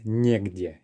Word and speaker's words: негде: Pay attention to негде here. We have a letter ye, and the stress is on that first syllable.